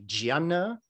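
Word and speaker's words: jhāna: move into what is called a gianna in pali or a diana in sanskrit same word different pronunciation but the idea is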